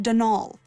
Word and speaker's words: Donal: not Donald mind you there's no D at the end so it's pronounced danal that's the way you're